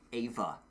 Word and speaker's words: Eva: Yeah, she said it on an interview once, and she was like, "It's actually Ava," and I'm like, "Dang, all right, Ava."